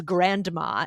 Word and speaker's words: Grandma: a but nobody says Grandma it's Grandma right right or grand mom no one says Grand grandom yeah Grandma we we dropped the D is what you're saying